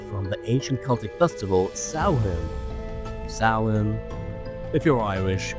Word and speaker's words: Samhain: But anyways, Halloween originated from the ancient Celtic festival saun sin. If you're Irish, correct me. The spelling is s a m h a i n, but it's actually not pronounced samay. It's salad.